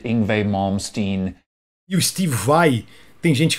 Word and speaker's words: Vai: eu tenho Legend in Le Monde est injuste vai tem gente favey não é ele mesmo me falou é Steve